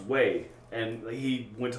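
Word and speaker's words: Wei: Because the pronunciation, like the way it was spelled was W-E-I, and he thought it was we. And it's like, no, that it's pronounced way.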